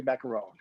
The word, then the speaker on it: Macarone: And just for the record, the E is silent on Terry Macarone.